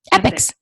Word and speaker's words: EPIX: Epics.